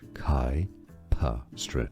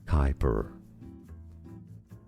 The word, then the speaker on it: Kuiper: Kuiper, two syllables, stress on the first one. In American English, it's usually pronounced as Kuiper.